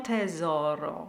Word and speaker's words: tesoro: O mio tesoro. So the rhythm is O mio tesoro. So the mi of mio is the important syllable. Tesoro with a hard Z sound, so oh my treasure.